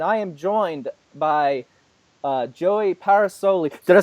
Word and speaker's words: Parasole: is Daniel and I am joined by joey paras Olli did I say it right you did my